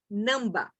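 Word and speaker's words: ནང་པ: que eles usariam seria namba é um termo em tibetano não sei como se escreve exatamente mas a pronúncia é essa não dá significa apenas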